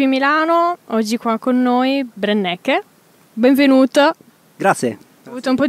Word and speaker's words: Brenneke: a balconi TV Milano oggi qua con noi brennecke Benvenuto Grazie avuto un po' di tentennamento nel nella pronuncia del del nome No ma l'hai l'hai